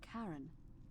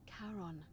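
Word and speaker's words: Charon: it's just as you described it only your pronunciation is a little off the name you heard wasn't Karen it was c h a r o n as in Kon the of the Dead Kon who in exchange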